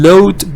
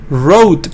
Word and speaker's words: rode: on my motorbike and load back to the office. Load back? No, rode back, I guess. Rode back to the office. R-O-A-D, not L-O-A-D.